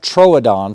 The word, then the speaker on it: Troodon: body and it's also a little fatter correct pronunciation is a combat Troodon Troodon means wounding tooth or it's kind of like